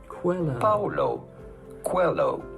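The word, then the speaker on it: Paulo Coelho: how to pronounce that how do you go about pronouncing his name Paulo Quello Paolo cuello pretty straightforward once you know Paulo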